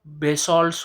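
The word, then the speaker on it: basalt: Black soil black soil जो होती है वो इग्नियस रॉक से फॉर्म्ड होती है, पर्टिकुलरली जो बेसॉल्ट्स होते हैं, या बसाल्ट भी इसका प्रोनाउंसिएशन होता है, उससे वो क्रिएट होते हैं ब्लैक सॉइल्स।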